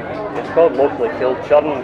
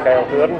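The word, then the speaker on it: Kilchurn: You see another big castle in Lochaw side called Churn Castle. It's actually pronunciation should be Kyle Thurn Castle.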